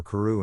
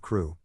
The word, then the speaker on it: Crew: "Madame Pascal pronounced it as if it were Carew instead of Crew, but that might be merely a matter of pronunciation.